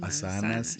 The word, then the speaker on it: asanas: Asanas es, bueno, la palabra correcta es asanas, se pronuncia así porque tiene de hecho como Asanas. un tipo de tilde, digamos.